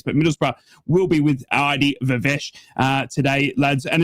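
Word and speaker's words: Viveash: Adi Vesh or Adi Vive I have been told to pronounce. I do apologize. I've been butchering his name.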